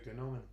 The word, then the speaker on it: gnomon: I would say gnomon. Yeah. Same as I would say gnome.